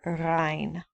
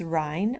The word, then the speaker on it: Rhein: It goes all the way down into Spain, and it is der Rhein. In English, it's Rhine, R-H-I-N-E, spelled a little different, pronounced almost the same, der Rhein.